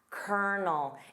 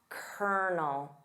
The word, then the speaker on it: colonel: Of course, notice that pronunciation of kernel. Colonel. It sounds nothing like the spelling. Repeat after me. Colonel.